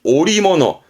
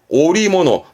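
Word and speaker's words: 織物: 그러나 일본 친구들은 음으로 읽지 않고 짜놓은 물건이다 그래서 발음이 오리모노, 오리모노.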